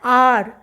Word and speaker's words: hour: For example, I will meet you an R. Here R spelling is HOUR, but H is silent.